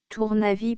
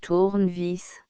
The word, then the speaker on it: tournevis: Tournavis P tournevis. Prononcer tournevis.